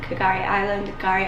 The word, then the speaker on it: K'gari: the first people on Kgari Island. The K is silent.